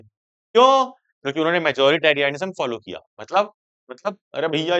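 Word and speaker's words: majoritarianism: इसीलिए ऐसे प्रोनाउंस करो कि स्पेलिंग याद हो जाए।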